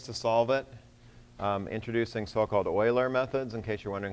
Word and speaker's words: Euler: about different ways to solve it introducing so-called euler methods in case you're wondering how that's pronounced finite difference methods which i want to